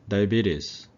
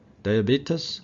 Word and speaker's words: diabetes: 그래서 이음절의 강세가 있어요. diabetes. 영국식 발음이고 미국식 발음은 diabetes라고 합니다.